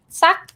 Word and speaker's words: ซัก: สัก อันแรกคุณน้ำอธิบายหน่อยก็ได้ค่ะอันแรกอันนี้ อันแรก ซัก it's a high tone because so is low class consonant and this one is dead syllable. Short vowel you get high tone like sak, like the word rak.